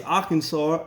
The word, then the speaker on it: Arkansas: Okay, it's Arkansas. That's how it's pronounced. It's not how it sounds when you spell it out.